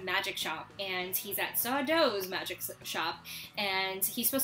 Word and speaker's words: Sardo: but also because it's a Sardo episode no Mistah accent on the dough he's such a great